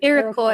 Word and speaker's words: Iroquois: Iroquois. Iroquois.